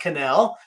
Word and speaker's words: Connell: should have told you it's pronounced Canal just like you I don't